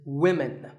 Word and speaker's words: women: learners of English is women. This is, of course, because of the English language's crazy spelling system. But remember that we say woman for one woman and women for the plural. Women.